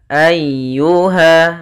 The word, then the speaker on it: ayyuha: lembut dalam pelafalannya Lin kemudian ayyuha ayyuha di sini ada huruf ya yang berharakat tasydid ya termasuk huruf lembut dan dia harus ditekan karena dia tasdid Ayuha ayyuha langsung ke